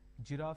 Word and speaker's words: giraffe: with a cur sound giraffe starts with a J sound and Gadget starts with